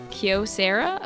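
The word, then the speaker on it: Kyocera: After learning, uh, Kaio Sera is pronounced like that. Most people say, "Oh, pron Oh, wait. It's pronounced like how people say Kyoto." Like Kiosera. Okay.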